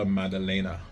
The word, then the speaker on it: Maddalena: Jack Dea Madelena, that's how you say his name.